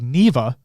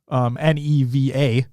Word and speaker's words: Neva: I was mispronouncing it. It's actually called Neva. Neva.